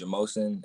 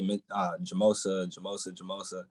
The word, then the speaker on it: Jamosin: My last name is Jamosin, and like a lot of people will mispronounce it and say Jamosa.